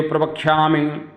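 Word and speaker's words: प्रवक्ष्यामि: हे देव शदेव प्रवक्षामि इसका शुद्ध उच्चारण होना बहुत आवश्यक है। यह प्रवक्षा में ये छोटी इ की मात्रा है और आपने देखा होगा देव को लोग देवी बोलते हैं।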